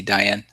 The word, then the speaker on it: Diane: so it's Diane die Accent on the first syllable Diane Diane wow really